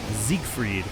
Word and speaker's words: Siegfried: So the S would be a Z sound. The G at the end of the syllable would give you the K.